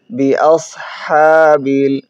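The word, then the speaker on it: بِأَصْحَابِ: আলাম তারা কাইফা ফাআলা আলাম তারা কাইফা ফাআলা রব্বুকা আলাম তারা কাইফা ফাআলা রব্বুকা বিআসহাবিল আমরা এই জায়গায় অনেকেই সিন উচ্চারণ করি, বিআস না, সদ উচ্চারণ হবে বিআসহাবিল।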